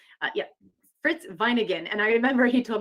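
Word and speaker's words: Wieninger: Fritz vine and garden vine again yeah fritz vine again and I remember he told me listen whatever you do don't pronounce my name vinegar and he getting great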